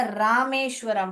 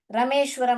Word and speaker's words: रामेश्वरम: मगर इसको रमेश करके नहीं पढ़ने का, रामेश्वरम पढ़ने का। ठीक है, रमेश्वरम नहीं पढ़ना है हमको, रामेश्वरम।